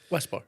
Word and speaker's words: WSPR: Whisper. Whisper. WPR is supposed to be pronounced Whisper.